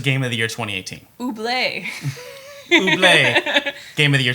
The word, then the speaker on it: Ooblets: It's pronounced Ooblets Game of the Year 2018. Ooblets.